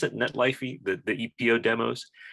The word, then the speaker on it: Netlify: to the netlifey um is that how you pronounce it netlifey the the epo demos netlify um they're they're great modules this is cool